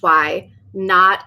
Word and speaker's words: Wynaut: and it's wynaut fibers that's why WH why not is spelled like a knot in in yarn or thread why not fiber is